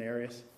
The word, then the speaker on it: Arias: Arias. Arias. Have you ever heard it pronounced any other way other than Arias?